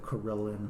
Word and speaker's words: carillon: Okay, so we know that Carillon probably rhymes with million.